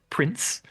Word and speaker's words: Princ: Now, I believe I'm correct in saying that this is pronounced Prince.